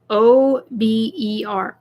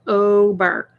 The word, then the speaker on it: Ober: It's really easy. Ober. O-B-E-R. Ober. Think of the word over.